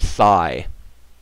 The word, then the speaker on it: psi: that's called It's pronounced it's a Greek letter we pronounce it Sai just like SI it's spelled PSI and that is called